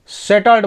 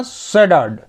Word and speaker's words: shattered: अब यहाँ पे भी देखिए, यहाँ पे हम SHATTERED उसको सेटल्ड बोले ना, लेकिन इसका वास्तविक प्रोनाउंसिएशन होगा सडर्ड, सडर्ड, क्योंकि यहाँ पे टी को डी पढ़ते हैं जब उच्चारित करते हैं।